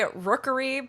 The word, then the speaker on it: Rookuri: I'm Rook, aka Rookuri, but spelled with U-R-I.